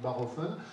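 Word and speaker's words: Bachofen: Alors, ça s'écrit Bachhoffen, mais c'est un Suisse allemand, donc on dit Barhoffen, hein, qui a été un peu le premier à écrire un livre qui a fait vraiment date.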